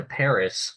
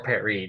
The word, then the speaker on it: Paris: And so, because of that, Jefferson would actually send Robert Livingston to Paris, hoping to, or Paris, depending on if you're using the English or French pronunciation, hoping to negotiate the purchase of New Orleans on March 4th of 1801 CE.